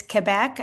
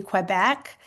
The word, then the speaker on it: Quebec: The U is not pronounced with the Q or the G for that matter. So, I used to say when I moved to the States, Quebec, and it's really Quebec because you do pronounce it in English.